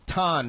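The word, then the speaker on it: Thanh: Tom? Ton. Ton. Ton. It's spelled like the word than.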